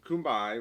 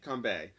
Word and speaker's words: Kanbei: You have Kumbai, right? That's how you say his name. He's the older gentleman. Kanbei? Kanbei.